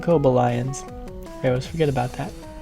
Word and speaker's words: Cobalions: the Montreal Akobo Lions I was about to say khob aliens and really cool accent but they like to pronounce and kobo lions I always forget about